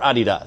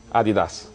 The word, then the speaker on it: Adidas: be pronounced Adidas or Adidas. So which do you prefer? Adidas. There you go. I'm corrected right away. Adidas, it's the German way.